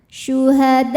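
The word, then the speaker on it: شُهَدَاءَ: Mad tabi'inya adalah alif yang sebelumnya fathah, hamzahnya a, ini satu kata pada kata syuhada'a, maka dal kita panjangkan boleh 4 boleh 5 harokat. Syuhada'a bil.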